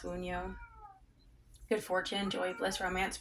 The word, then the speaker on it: Wunjo: Okay, we have the Wunjo. These roots are coming out. They hardly ever come out. At least when I do the readings for other people. Wunjo. Oh, it's pronounced Wunyo.